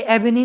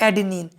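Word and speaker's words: adenine: ये एबिनिन नहीं है स्टूडेंट्स, ये है एडिनिन।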